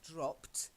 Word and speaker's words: dropped: notice how the difference is in the ED ending, sometimes it's a T ending, like dropped, and then other times it's a more D ending, like delayed. So it's delayed, dropped, dropped, delayed. Both silent E's, but a slightly different ending for that ED.